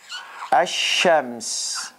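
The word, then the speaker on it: الشمس: of my mouth yes that's the difference in sun letters that lam sound disappears the alarm sound disappears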